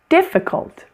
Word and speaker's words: difficult: Difficult. Difficult has a short I in the middle. Difficult. The weak syllable is the middle one.